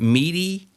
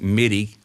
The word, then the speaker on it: MIDI: digital interface correct yeah am i some people pronounce that meaty i've always pronounced it midi m-i-d-i midi some people say meaty yeah that's